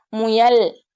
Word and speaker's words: முயல்: முயல், புயல், புழுதி அப்படின்னு சொல்லும்போது, வாய் வந்து என்ன செய்யணும்? முழுமையா குவியணும்.